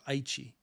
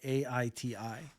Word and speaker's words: Aichi: Now, I, as a native English speaker, would say Aiti. That's what I would read if I saw that on paper. It is going to be shifted to the Hepburn rules, which would spell it as A-I-C-H-I, Aichi, which is more phonetically similar to what the Japanese say.